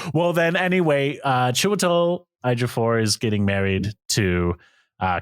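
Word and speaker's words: Ejiofor: this guy's name wrong but it's chel afor yes that is correct okay afor I was saying like edor so I was like that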